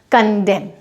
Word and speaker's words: condemn: कंडेम की spelling होती है CONDEMN, वहाँ पे भी एम के बाद एन है तो हमारा जो एन है वो साइलेंट हो जाएगा, कंडेम।